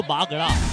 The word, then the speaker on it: बागड़ा: जैसे कि हम साहिल बागड़ा की बात करें, साहिल BAGRA बागड़ा, अगर आप उसे इंग्लिश में पढ़ेंगे, बट हम उसका हिंदी जब प्रोनाउंसिएशन करते हैं तो बागड़ा, तो र को इंग्लिश में वो र से ही कई बार संबोधित किया जाता है।